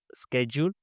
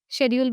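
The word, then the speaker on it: schedule: एक स्ेड्यूल स्ेड्यूल। तो एक्चुअली उसका एक्चुअल प्रोनाउंसिएशन क्या होता है? दोनों सही होते हैं। शेड्यूल भी सही होता है।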